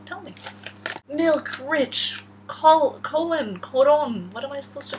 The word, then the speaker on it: Collon: a hundred yen yeah it says colon with an extra l but it's pronounced i think it's from